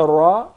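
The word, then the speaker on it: ر: You make sure that there is a slight striking, or the tip of the tongue would hit the gum to be pronounced properly without rolling or the repetition of the ra.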